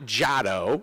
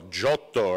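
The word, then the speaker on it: Giotto: you mispronouncing that name it's not jado it's right I want to see the hand move as well Johto right when you say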